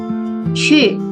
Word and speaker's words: 去: Cu, pergi. Tadi sudah ada ya. Bunyinya cu itu seperti kita ngomong ci, chi. Tapi mulut kita manyun. Jadi bunyinya cu, cu gitu.